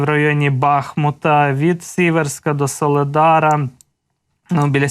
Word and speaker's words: Бахмут: які орудують в районі бахмута чи бахмута Перепрошую ви завжди мене виправляєте що в місцеві кажуть Бахмут і наголос Саме так треба ставити Буду намагатися запам'ятати це постійно постійно